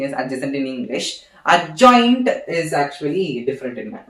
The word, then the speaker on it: adjoint: So now I have to give the adjacent of A. Actually, it is not pronounced as adjacent of A. It is pronounced as adjoint of A. Sorry, not adjacent. It is adjoint of A.